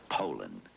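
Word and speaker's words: Poulan: and in Poland and for over 30 years they've been mispronouncing our name so we'd like to remind you that our name is Poland and for a tough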